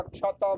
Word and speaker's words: क्षत: क्षत विग्रहाश्च क्षत विग्रहाश्च कोई इसमें हल अक्षर नहीं है। त का भी उच्चारण होगा क्षत में क्षत।